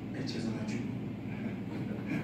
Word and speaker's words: Echezonachukwu: I said, Echezonachukwu.